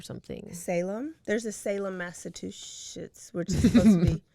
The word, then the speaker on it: Massachusetts: Massachusetts. Not two shits. Not mass a two shits.